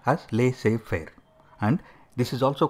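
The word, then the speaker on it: laissez-faire: are followed lay fair is a French word it is pronounced as leay fair and this is also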